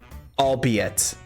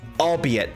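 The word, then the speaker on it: albeit: added from Lady um it's pronounced like the words it's made from allbe it allbe it thank you Camila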